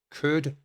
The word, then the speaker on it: could: at hypothetically speaking wood could should now these are words that i hear mispronounced all the time we do not say the letter l when we are using these words so make sure that